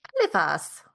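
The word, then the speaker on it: Eliphas: Elephas.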